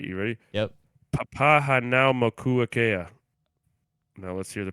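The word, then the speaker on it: Papahānaumokuākea: Papa Hanao Mokuakea. You're looking at how to pronounce No, these that guy, name dude.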